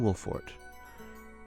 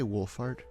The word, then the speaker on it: Wolffort: Father must be Simone Wolffort. Leader of House Wolffort. Father to Sarino Wolfart. Did I say Wolfart? Wolart. Wolf Fort. That is how it is spelled. That is how it is said.